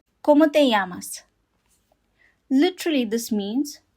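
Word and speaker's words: cómo te llamas: The O in Spanish always makes the sound O. Not O. Always it's O. And the accent over the first O indicates where the stress in the word is.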